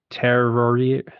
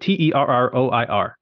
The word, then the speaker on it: Terroir: First one is Terrorier. I don't even know how to say it. Terroir. Sorry, Kelly.